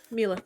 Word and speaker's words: Mealith: Milith. Mealith, like Keyleth, but with an M, Right, yes.